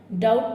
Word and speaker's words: doubt: ये आउ साउंड जैसे DOUBT। और बी क्या है इसमें, यहाँ पर साइलेंट है। डाउट पढ़ेंगे इसको हम, क्या पढ़ेंगे?